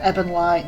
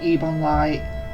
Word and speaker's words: Ebon Light: thing that i made is pronounced ebon light not even light it didn't even realize